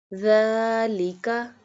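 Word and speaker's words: ذٰلِكَ: Dhalika, dhalika, dhalika, dhalika, dhalika. So it sounds, the whole word sounds like dhalika because dal has fatha, standing fatha, so we stretch it.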